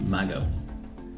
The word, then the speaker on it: Mago: go good thank God I was saying mango instead of Mago someone's asking how to